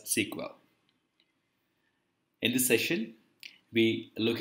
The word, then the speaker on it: SQL: for structured query language it's pronounced as sequel in this session we